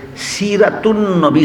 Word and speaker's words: সিরাতুন্নবী: আনবী যখন যুক্ত হয় তখন আর আ এর উচ্চারণ থাকে না এটা লুপ্ত হইয়া যায় এইভাবে দুইটা শব্দ একত্র হইয়া সিরাতুন্নবী শব্দটা ঘটনা এইটাই।